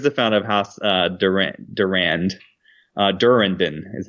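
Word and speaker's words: Durrandon: Durandon is how you pronounce it.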